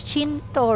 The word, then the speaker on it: Chengdu: Actually, it's not even Chengdu. It's Chengdu, right?